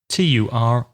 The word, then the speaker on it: turnip: Can you spell that? T-U-R-N-I-P.